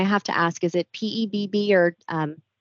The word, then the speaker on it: PEBB: members and I have to ask is it pebb or um PEB how do we pronounce that we say PEB okay so for